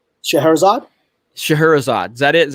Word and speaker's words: Scheherazade: e h e ra CA d e Scheherazade Scheherazade that is how you say it yeah that's